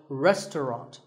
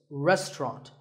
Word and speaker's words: restaurant: fancy spelling confuse you the second syllable is just tongue and the third is wrought so restaurant in British English you might hear just two syllables restaurant that is also correct after you eat at